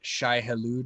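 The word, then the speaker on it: Shai-Hulud: done reading dude and it's very uh very shy hallowed is that how you say it yes that's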